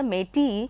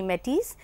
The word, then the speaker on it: Métis: If you take the French pronunciation, then it would be Métis. M-E-T-I-S is how it is spelled. But then in England, in English, it is called Métis, and in French, it is Métis.